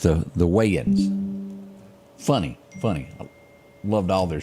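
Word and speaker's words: Wayans: y'all remember the weigh-in Brothers Wayman way is pronounced the the wein funny funny loved all their shows do you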